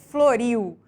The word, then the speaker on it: floriu: palavra nesse caso ilustrado por floriu em que a sílaba tônica é Rio e prestem atenção é a sílaba mais forte de floriu é a última sílaba da palavra e portanto ela é chamada de tônica e classificada como oxítona temos as paroxítonas em